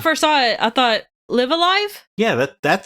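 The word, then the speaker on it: Live A Live: No, it is Live Alive.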